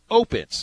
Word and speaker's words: Opitz: So he says, before he even asked how to say his name, we say to him, Opitz. It's Opitz. Just the emphasis on the O, but he continued to